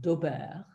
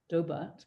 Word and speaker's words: Daubert: So this is a 1993 case before the US Supreme Court, called Daubert. I'm sure you don't pronounce it like that, Daubert, perhaps.